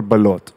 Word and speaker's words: balut: like you know I've heard it pronounce balut or balot it just depends on I actually I